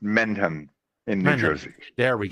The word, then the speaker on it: Mendham: Yeah, and Thomas, it's pronounced Mendham in New Jersey.